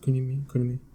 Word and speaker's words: Kunimi: That's how you pronounce it. Kunimi.